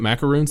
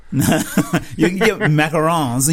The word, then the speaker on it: macaron: it sounds like it can you get macaroons they're macarons you might do macaroons also but maybe but what